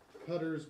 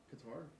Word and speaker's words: Qatar: Qatar's World Cup building boom. Too hot to work. Did I say it wrong or did I say it right? Qatar?